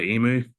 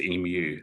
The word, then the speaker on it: emu: think it's limu the emu from TV ads. It's actually pronounced emu. So in Australia we say emu so expeditionary manufacturing you